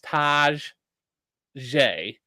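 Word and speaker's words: Tajae: So last year, the official pronunciation guide they put out said it was Taj Ye, and now on this year, the one that the Titans put out, it's Taj J.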